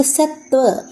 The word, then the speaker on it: सत्व: और अगर हमें दो बोलना सत्व। थोड़ा सा हम इस पर उच्चारण ज्यादा देते हैं।